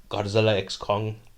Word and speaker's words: Godzilla x Kong: of this episode is Godzilla X Kong the new Empire although uh the director Adam Wingard said the x is silent but why would you